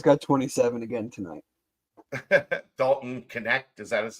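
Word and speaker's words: Knecht: 27 again tonight Dalton connect is that his name yes connect connect I don't know how to pronounce yes connect MH yes like Connect Four that's how you pronounce it yeah K NE e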